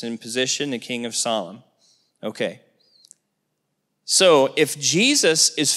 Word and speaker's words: Salem: Salem but it's pronounced solom okay and it means peace king of solom Peace that's what solom means almost Shalom but solom okay now as the